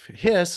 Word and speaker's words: His: nerves and they are called the bundle of hiss is how it's pronounced but it's spelled hi importantly for your